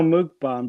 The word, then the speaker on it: mukbang: that channel yeah but mukbang mukbang as it's pronounced so now mook bomb but see that don't